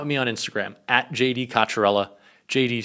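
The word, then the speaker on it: Cocchiarella: And also, I always see comments about the pronunciation. Kacharella.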